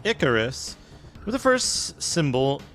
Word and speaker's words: Icarus: it Icarus is pronounced Icarus with the first symbol rhyming with pick the name comes from